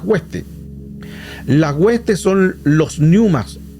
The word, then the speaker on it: pneuma: Las huestes son los pneumas, que se escribe una P y después pneuma, una P adelante, una P de papá, P, y después pneuma.